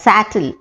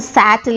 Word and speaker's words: settle: The next word, S-E-T-T-L-E, commonly mispronounced as sattle. I want to settle in my village one day.